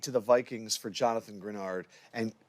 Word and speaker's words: Greenard: The Eagles traded pick number 98 to the Vikings for Jonathan Grenard.